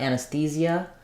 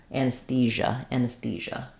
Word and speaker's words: anesthesia: So the stress is on the th syllable. So we have anus. I would say us or is there. Anesthe. And then we have our th sound, voiceless th here. Anesthese. The e sound, and then the j sound. One syllable, not zia, but j, not anesthesia, anesthesia. This is a like cat.